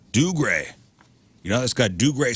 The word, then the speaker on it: Dougray: Scottish actor, how would you pronounce this? Seamus. Dougray. Dougray. Dougray.